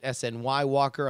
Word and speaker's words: Snywalker: Specifically, my online username is pronounced like Skywalker, but with an N. I've heard you pronounce it SNY Walker on the JuRY show and weird things before. I want to save you the pronunciation time. So it is Snywalker.